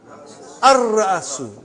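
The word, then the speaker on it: الرأس: How will you pronounce? Ar-Ra'asu. Not Al. Ar-Ra'asu. The head.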